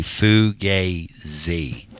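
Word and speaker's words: fugazi: A foo gay z. That's Butch Jones. Foo gay z. Three syllables. Because everybody was kung fu fighting. Butch Jones's tenure here was gay to the Z, not Jay-Z.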